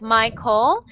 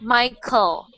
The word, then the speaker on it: Michael: make that that name it doesn't really sound like my coal it sounds like Michael just it's like as if it was just like Mike with an L at the end of it Michael Michael so try